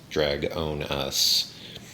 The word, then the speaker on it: Dragonis: steve recognizes dragonis uh it's spelled very similar to well actually it's it's spelled identically to dragon us but because of pronunciation it's drag own us but it is what